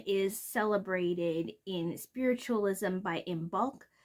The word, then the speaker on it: Imbolc: celebrated in spiritualism by imul which is spelled I am b o LC and this happens at